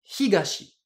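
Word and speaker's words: 東: il est tout seul j'utilise bien lecture purement japonaise et du coup je prononce ça Higashi si maintenant je veux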